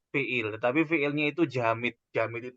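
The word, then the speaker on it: جامد: Jamid itu tulisannya jim alif, ya, jimnya panjang, jim alif, kemudian mim dal. Bacanya jamid. Jamid itu artinya adalah dia beku, tidak bisa untuk berubah bentuk.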